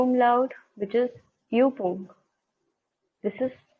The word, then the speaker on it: Übung: Then we have U umlaut, which is Übung. This is U umlaut is pronounced as U.